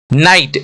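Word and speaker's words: knight: शब्द को हम होमोफोंस बोलते हैं नेक्स्ट एग्जांपल नाइट एन आई जी ह टी नाइट का मतलब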